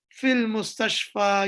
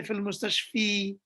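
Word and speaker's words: في المستشفى: Fil mustashfa, you don't say fil mustashfi.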